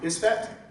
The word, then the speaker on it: Isfet: and I may mispronounce these, but Mot and Isfet. Am I pronouncing those correctly?